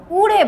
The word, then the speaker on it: উড়ে: তোমরা কিন্তু আমি তোমাদের একটা জিনিস দেখাতে চাই, তোমরা কিন্তু এই জায়গাটাই অনেকে ওড়ে কথাটা বলো না, উড়ে বলো।